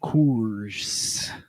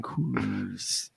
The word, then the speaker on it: Coors: enjoy a nice cool Coors. I wonder if they made him say it like that, or he's like, no, there's 2 O's in that word. Yeah, I'm hitting them both. I'm saying Coors.